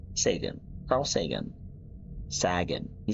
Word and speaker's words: Sagan: Sagan.